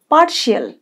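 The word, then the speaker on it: partial: অর্থাৎ বিভক্ত পৃথিবী পার্শিয়াল এই রটা কম উচ্চারণ হবে পার্শিয়াল পার্শিয়াল মানে আংশিক পার্শিয়াল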